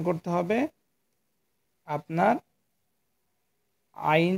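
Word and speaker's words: عين: হ্যাঁ, আমরা হা হরফটি যে জায়গাতে উচ্চারণ করেছি, সেম জায়গা থেকে এই আইন হরফটি উচ্চারণ করব।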